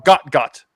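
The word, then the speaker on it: Gout Gout: His name is Goutgout or Gotgot. I can't I don't know. He's Australian. It's pronounced It's spelled out goutgout. And it sounds like they he goes by like got type of thing.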